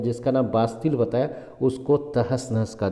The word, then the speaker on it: Bastille: था इसको बास्तीन, और बास्तीन को लिखा जाता है BASTILE, तो इसको बास्तिल कहा जाता है। इसका जो प्रोनाउंसिएशन होगा तो बास्तिल होगा।